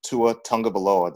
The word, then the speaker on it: Tua Tagovailoa: But I am aware that the Alabama Crimson Tide beat Louisville by a final score of 51-14, and quarterback Tua Tagovailoa, did I say it right, Jeremy?